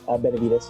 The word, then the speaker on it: Benavides: Benavides, yeah.